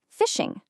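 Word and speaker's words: phishing: The biggest danger you're going to run into has a weird name, fishing, spelled with a ph. But, yeah, it sounds just like fishing, and that's a perfect way to think about it.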